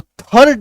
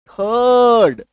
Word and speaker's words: third: THIRD, आर के बाद क्या है, डी है, आर का उच्चारण नहीं होना है, तो थर्ड नहीं बोलेंगे, थर्ड, क्या बोलेंगे, थर्ड, आ रही बात समझ में।